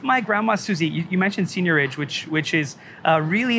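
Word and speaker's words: seigniorage: gonna maybe you're mispronouncing there's a french word senior age okay um it's related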